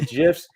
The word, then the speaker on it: GIF: I pronounce the G like it's a hard G for me, so I think it's GIF.